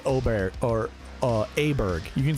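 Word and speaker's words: Åberg: Do you notice there is no bear? There's no bear in this one.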